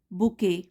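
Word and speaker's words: bouquet: with a love Lee बुके बुके T silent है बुके ऑफ red roses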